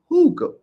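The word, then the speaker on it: Hygge: Hooga Homestead in the building. It's spelled YGGE. It's pronounced Hooga.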